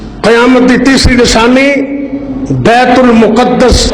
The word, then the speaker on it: بیت المقدس: قیامت کی تیسری نشانی بیت المقدس اور دوسرا تلفظ ہے مقدس، ان کا فتح ہونا۔